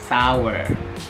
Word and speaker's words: sour: Ya, jadi bukan sour atau sour. Ya, ini adalah sour, sour, sour. Seperti itu, sour.